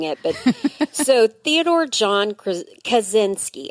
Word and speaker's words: Kaczynski: so Theodore John kazinski and that's I want to say krinski I know I know it's so hard I had to like phonetically spell it out and then I have to do that you kazinski kazinski yeah exactly not krinski from the office although love different guy